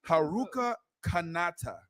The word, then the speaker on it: Haruka Kanata: It's called Haruka Kanata.